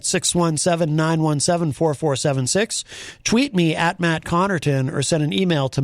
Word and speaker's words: Connarton: Well, it's pronounced Connarton, which is probably why people often misspell it. Because there's an A where there should be an E.